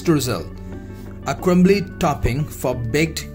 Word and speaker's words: Streusel: Streusel, the pronunciation of this is Streusel, a crumbly topping for